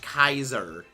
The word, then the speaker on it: Caesar: that joke because the words should be pronounced Kaiser that that's how a Latin name was pronounced I'm gonna throw a